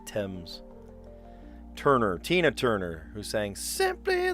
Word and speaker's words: Thames: I almost said Thames. No, they say Thames.